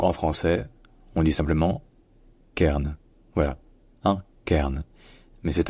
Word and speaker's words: cairn: Donc ce n'est pas vraiment cairn, mais plutôt cairn, K. Et ensuite, évidemment, c'est la prononciation du R, qui soit en anglais américain est R, soit en anglais britannique, qui est plus proche d'une sorte de diphtongue du son A. Donc ça devient cairn.